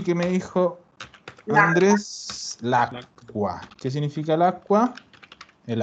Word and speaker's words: acqua: Acuérdense que las QU, la QU suena Q, o sea, suena así, Q. La C con la Q es lo mismo que tener una doble C. Entonces yo digo aqua, lacqua, paro. Digo a, paro, qua, aqua.